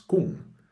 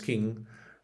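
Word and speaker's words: Küng: que se llamaba Hans Kuhn. Creo que en alemán se pronuncia King, pero no estoy seguro porque no hablo alemán. Pero autor, teólogo Hans King, a pesar de ser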